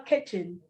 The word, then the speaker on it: kitchen: We're going to go into our kitchen. So notice the way I pronounce the word kitchen, not kitchen, K with the A, kitchen, and cook meals.